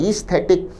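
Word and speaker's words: aesthetic: और अंतिम option C ईस्थेटिक, एक बहुत अच्छा शब्द है, उच्चारण है ईस्थेटिक, अर्थ है सौंदर्य बोध से संबंधित या सुंदरता से संबंधित।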